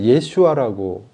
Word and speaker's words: 예슈아: 그래서 그거 예수가 예수님이 원래 예수라는 거는 이제이 성경 해석이 번역이 좀 그런데요. 원래 예슈아라고 해야 돼요. 발음으로 예슈아가 뭐냐면은 여호수아에서 이제 나온 거예요. 여호수아가 뭐냐면 구원자라는 뜻입니다.